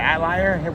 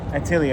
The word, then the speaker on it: Atelier: And Witch Hat, is it Atlier? Witch Hat, that's how you say it? Yeah. Atelier, that's my bad. So that one, I always say it weird. Well, it's French.